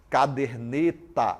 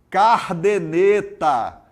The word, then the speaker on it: caderneta: bem interessante Olha só caderneta é a palavra caderneta Cabernet tá aí as pessoas falam cardenetas caderneta caderneta cardenetas não a palavra correta se fala se pronuncia a caderneta muito bem muito bem